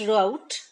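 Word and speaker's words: route: Next is राउट और रूट, आप इसको रूट भी कह सकते हो, राउट भी कह सकते हो, और ये भी रूट है। तो दोनों को आप रूट ही प्रोनाउंस कर लीजिए यहाँ के प्रोनाउंसिएशन के हिसाब से।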